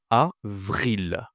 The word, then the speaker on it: avril: avril. Avril. Attention ici à VR toujours VR.